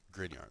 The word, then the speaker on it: Grignard: from the 1900s it's pronounced grin like you're smiling like the devil likes to grin and yard like Scotland Yard right so it's looks funny cuz he's a Frenchie but grin yard the South France right